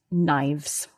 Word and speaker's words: knives: knife, the plural knives, there's a silent k at the beginning. That's right. K N I V S pronounced knives.